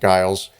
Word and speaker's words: Giles: witches and so Guiles is accused or Giles but I I pronounce it Guiles and um the court